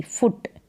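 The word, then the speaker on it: foot: F double O टी फुट फूड का मतलब भोजन होता है यह फुट है फुट फुट और फूड उच्चारण भी अलग है तो यहां पर टी आएगा डी की जगह चलिए नेक्स्ट है कि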